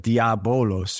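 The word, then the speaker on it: διάβολος: and it looks like diabolos but that ba uh beta is is pronounced like a V so if you didn't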